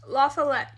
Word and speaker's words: La Follette: La Fayette this Lafayette whose name is actually pronounced lafalette despite what it looks like and what we